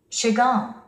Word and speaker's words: Chagall: 스트레스가 뒤에 옵니다. Chagall, Chagall. 물론 마크 샤갈이라고 우리는 합니다. 샤갈. 유명한 화가. 근데 우리 귀에는요. 시갈 이렇게 들리죠. 시갈. 시갈. 사전 발음규를 보면 셔로 되어 있습니다. 셔갈. 그러니까 우리는 두 개의 발음을 다 알고 있어야만 합니다.